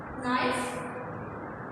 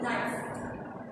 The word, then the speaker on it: knife: Okay, so the first one is knife. Okay, in which this K we do not pronounce, we spell, means we write, but we do not pronounce. We pronounce only knife.